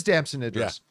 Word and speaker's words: Damson Idris: Brad Pitt and uh uh, how do you pronounce his name?" Damson Idris. It is Damson Idris.